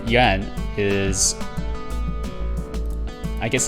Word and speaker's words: Yuan: Did you know actually the last name Yuan? Well, it's supposed to be pronounced in one syllable. I've intentionally pronounced it wrong, and now I lack the ability to actually pronounce it correctly.